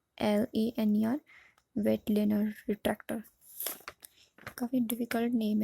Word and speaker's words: Weitlaner: इसकी स्पेलिंग है WEITLANER, वेटलेनर retractor.